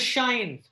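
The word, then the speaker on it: sinh: It's not sine. Sine is different.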